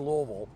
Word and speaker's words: Louisville: thing to say because it's not spelled like that so this is not louisville and it's definitely not louisville unless you're just trying to you know like make nice with the locals but it's it's two syllables louisville you have to kind of swallow it together so if you have